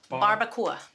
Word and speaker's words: barbacoa: How do you pronounce it? Barbacoa. Barbacoa.